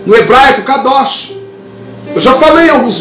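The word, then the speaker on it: קדוש: entra uma expressão, uma palavra chamada, que você pronuncia no hebraico, kadosh.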